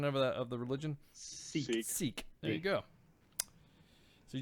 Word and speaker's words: Sikh: What's the proper pronunciation of the religion? Sikh.